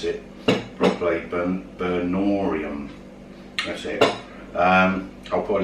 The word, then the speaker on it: Burnorium: I can never pronounce it properly. Burnorium.